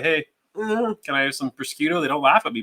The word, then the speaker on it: prosciutto: It's not prosciutto then, is it? It's prosciutto.